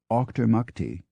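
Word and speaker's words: Auchtermuchty: Kent pronounced meam or a u c h t r m u c HT y a Scottish town pronounced Octor MTI but more often it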